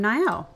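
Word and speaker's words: Nai'o: oh there's oh great day for a run Nyo I actually don't know how to pronounce that naio oh hi you must be in Newtown new in town I'm naio oh he's romanceable and the oldest son of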